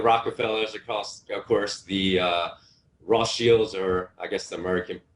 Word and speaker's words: Rothschild: Well, you have the Rockefellers across, of course, the Rothschilds, or I guess the American, we as Americans pronounce it Rothschild, but I believe the correct pronunciation, because it's German, is like Rothschild family in Europe.